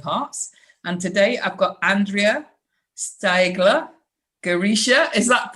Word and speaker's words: Andrea Steigler Girisha: And today I've got Andrea Steigler Girisha. Is that pronounced right?